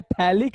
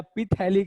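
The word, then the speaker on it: phthalic: तो ये PH हो, बट यहाँ पे P और H दोनों ही साइलेंट होता है, ठीक है, P और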